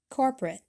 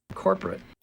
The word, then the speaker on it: corporate: don't release it corporate corporate corporate these stop t's will come a lot today secondly notice how we don't pronounce the second o this is called a vowel drop which sometimes happens in